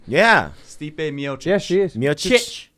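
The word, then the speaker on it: Miočić: Stipe Miocic.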